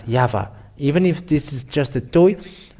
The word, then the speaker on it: Yahvah: So it is up to you to think when the Hebrew, when it is read in Hebrew, the yod, hey, vav, hey is pronounced as Yahvah.